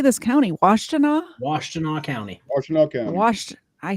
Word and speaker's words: Washtenaw: Washtenaw County.